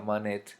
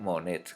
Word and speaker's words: Monet: importante sería claude monet se parecen los apellidos cierto pero son se escriben diferentes el anterior se escribía manet y se escriben monet con cierto entonces monet se